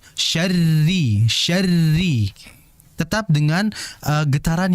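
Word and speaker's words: شَرِّ: Ro kasrah yang berharakat kasrah dia tipis walaupun dia bertasydid. Jadi hati-hati jangan sampai dibaca min syarri tidak syarri tidak. Bukan syarri yang betul syarri.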